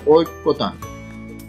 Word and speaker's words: ঐক্যতান: ঐক্যতান, ঐক্যতান, সঠিক উচ্চারণ হচ্ছে ঐক্যতান।